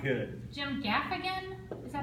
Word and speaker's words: Gaffigan: Jim Gaffigan, is that how you say it?